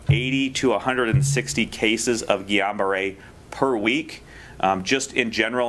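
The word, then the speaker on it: Guillain-Barré: about cases of and i will say this wrong guillain-barre did i say it right yeah result oh good i used to call it gillian barr so i'm doing better guillain-barre resulting from the j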